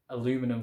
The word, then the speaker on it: aluminum: The bottle cap is much more thinner, and I think it's more like aluminum kind of. They pronounce, I find it amusing at first that we say aluminium, they pronounce it aluminum.